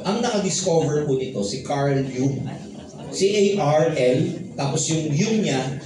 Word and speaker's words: Carl Jung: Ang naka-discover po nito, si Carl Jung. C-A-R-L, tapos yung Jung niya, J-U-N-G. Carl Jung. Pero it is spelled as, pronounced as Carl Jung.